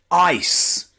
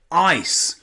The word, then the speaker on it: ice: So we don't pronounce it icky or is, we pronounce it ice, ice.